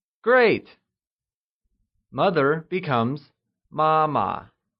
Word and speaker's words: 妈妈: Mother becomes 妈妈, and it is pronounced using the high level tone. Let's hear you say 妈妈.